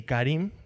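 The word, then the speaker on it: χάριν: Por qué es importante más o menos se pronuncia así Karim pero digo charín para que sepan las letras Y por qué esto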